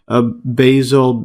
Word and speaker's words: basal: a constant internal environment, such as increasing its basal metabolic rate. See the pronunciation of this?